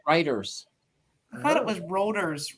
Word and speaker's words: Reuters: And I always called them routers. Yeah. They're actually pronounced Reuters.